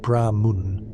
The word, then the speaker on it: Brahman: Brahman is pronounced Brahma Mun with a rolling G R and the emphasis on the first syllable.